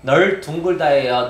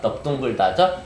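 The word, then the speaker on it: 넓둥글다: 널둥글다예요, 넙둥글다예요. 넙둥글다죠? 비읍으로 발음됩니다. 발음 기호가 리을 비읍 이렇게 2개가 있을 때 대부분 원래는 리을로 발음이 되는데 뭐만?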